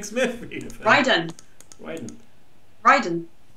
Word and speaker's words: Raiden: Smith Ryden raen ridden it's Raiden in Mortal Kombat pronounced so I guess this is going to be our session of the show where we research which is strange because Etc yeah because Ryden it's Ryden look Mortal Kombat is Raiden twitch raing anyway it